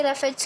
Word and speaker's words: roughage: तो रफेज क्या करता है? डाइजेशन हमारा इजी कर देता है और फूड में ही प्रेजेंट होता है। तो स्पेलिंग देखिए रफेज की, ROUGHAGE, रफेज।